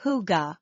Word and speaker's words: hygge: The Danes are famous for hygge, pronounced hygge.